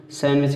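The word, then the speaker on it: sandwich: तो इसमें देखिए यन के पहले क्या डी आ गया तो इसलिए डी साइलेंट रहेगा। हैंडसम कहते हैं, हैंडसम नहीं कहते हैं, हैंडसम, ठीक है। सैंडविच कहते हैं, खाद्य पदार्थ जो होता है खाने वाली चीज़।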